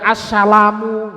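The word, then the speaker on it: السلام: Nah, awas. Assalamu, coba. Nah, ini benar-benar dari ujung. Bukan assalamu, enggak. Antum sholat langsung assalamualaikum warahmatullahi. Assalamu. Ini salah makhraj ini. Tuh dari ujung. Assalamu.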